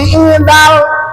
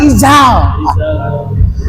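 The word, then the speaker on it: إذا: Inni idzal idzal, jangan ijzal.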